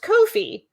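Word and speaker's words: Ko-fi: then they decided that their name was pronounced Kofi because they wanted it to rhyme with no fees and I'm like unusual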